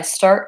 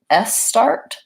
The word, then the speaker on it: start: so start stop stay an error that sometimes people have if you don't tend to have this combination in your language is they might say something more like s start they're saying the name of the letter s instead of just starting with the sound so to crap that